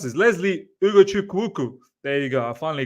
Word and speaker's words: Ugochukwu: So difficult to pronounce this. Lesley Ugochukwu.